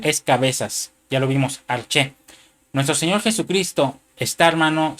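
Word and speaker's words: ἀρχή: es la palabra griega arche que viene en el en el número strong G746. es una palabra griega que se pronuncia arché y que quiere decir cabeza, gobernante, jefe, gobernador.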